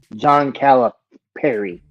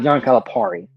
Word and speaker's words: Calipari: to make sure that we say his name John calip Perry it's not John Calipari it's John caliper a lot of people mispronounce that name and a lot of people